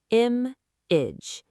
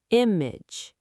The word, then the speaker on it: image: pronounce it carefully together the stress is on the first part of the word image image image Perfect pronunciation, Emily.